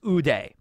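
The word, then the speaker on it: 腕: power so in Japanese the word for arm is Uday so it's like two syllables so since he sliced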